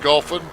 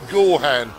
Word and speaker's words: Gorhan: We've been saying his name wrong. We've been calling him, well, I've been calling him Goffin. You've been calling him Gorn, and it's actually Gorhan. Jim Gorhan.